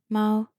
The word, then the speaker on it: máo: And using pinyin, you pronounce it "máo".